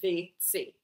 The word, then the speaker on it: WC: In Germany, it's the WC, pronounced VC.